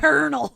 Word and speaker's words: Colonel: Colonel. Colonel. That is stupid. Why is it spelled like that?